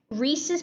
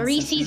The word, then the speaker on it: Reese's: about what the flavor we're complaining about how you pronounce reese's we should probably carry it yeah reese's yeah not reese's actually yeah it's not reese's it's reese's yeah it's actually the dude on the advertisement even says reese's fine reese is peanut